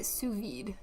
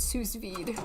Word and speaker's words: sous vide: Like sous as an under in yes. French. Yeah. Sous Well, that's where it comes from.